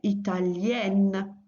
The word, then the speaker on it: italienne: So when that is the case, in French it's "ien", so Italian, Italien in the masculine. and italienne in the feminine, yin and yen.